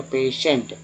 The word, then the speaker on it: patient: श कहाँ है, तो यहाँ टी आई से जो है श का उच्चारण हो रहा है, ई लग गया तो से हो गया पेशेंट, है ना।